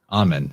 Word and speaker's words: Amun: A-M-U-N, or Amen, that's how you say it.